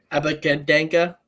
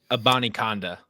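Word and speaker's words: Abanikanda: Israel Abakadenka. That's not how you say it at all, but I'm pretty sure he's supposed to be fast. I remember seeing that somewhere, I think. Abani Kanda. There you go.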